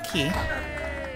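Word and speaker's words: Quay: since it is night time here in bauerstone key yes it is pronounced key I pronounced it play my whole life but it is in fact pronounced key um we can take part in the fist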